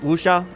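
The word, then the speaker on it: Wuxia: I think that's how you pronounce it. Wooa. W U Xia Wooa stories where it's like because like they're not samurai.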